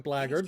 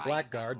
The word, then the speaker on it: blackguard: flag had attacked us good pronunciation on blaggard most people would go with blackguard that's another arcade it's